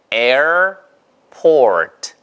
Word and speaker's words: airport: 에 에어 하면은 영국식 발음이에요. 에어포트 이러면 영국식 발음이고요. 에어 이런 식으로 이렇게 발음을 붙여서 에 다음에 그냥 어 발음만 하면 미국식 발음입니다. 보세요.